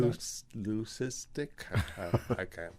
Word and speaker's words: leucistic: What, Lucan? What is that right? Am I saying that? Leucistic. I can't pronounce it.